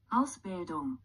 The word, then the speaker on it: Ausbildung: Ausbildung. Okay, one more time. Ausbildung. Ausbildung. Oops. Ausbildung. Bildung. Okay. I received a little bit of assistance. It helped me with pronouncing the AU part of the word.